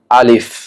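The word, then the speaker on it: ألف: আলিফ এর উচ্চারণ সঠিকভাবে কিভাবে করবেন? সামনের দাঁতের আগা নিচের ঠোঁটের পেটের মধ্যে লাগবে, যেমন আলিফ, এবং হালকা বাতাস প্রবাহিত হবে।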